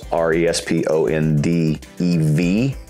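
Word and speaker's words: répondez: You can take out the V-O-U-S, because responde in French, if it's a command form, is R-E-S-P-O-N-D-E-V. And everybody who reads that, actually, no, EZ, responde, the EZ is silent.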